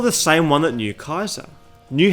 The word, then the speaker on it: Caesar: explained by Bob cook traditional Roman Latin pronounces Caesar as Kaiser but Latin began to change with the English language pronunciation of Latin words softening the pronunciation of C from from a k to an S while s's became